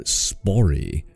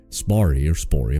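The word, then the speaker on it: Spörri: During this trip to Egypt, Spori, I'm not sure how you say it, there's an umlaut that might make an A sound. S-P-O umlaut R-R-I. Spari? We'll go Spari.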